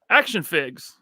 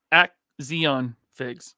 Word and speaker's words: Action Figs: Action Figs. I'm saying it correctly now. Action. I used to say Axion Figs. Axion. But it's Action because I'm dumb, apparently.